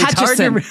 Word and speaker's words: Hutchison: It's not like the town Hutchinson. Right, exactly. Hutchison. It's like a sneeze. I was paranoid about this, right? I didn't want to, don't put an N in there.